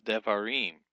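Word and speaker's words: דברים: For example, when we have a plural for words, the plural of word is words devarim. The accent shifts down from var to im.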